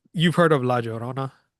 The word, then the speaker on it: La Llorona: So how do you pronounce that? The La Llorona. La Llorona.